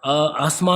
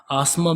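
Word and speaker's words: asthma: अस्थमा क्या होता है इसको अस्थमा भी कहते हैं अस्थमा भी कहते हैं आस्मा भी कहते हैं आस्मा ठीक है जो आप प्रोनाउंस करें ये क्या होती है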